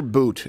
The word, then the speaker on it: Bout: So Victor, is it pronounced Victor Boot? Boot, Even though it's pronounced, it looks like Bout.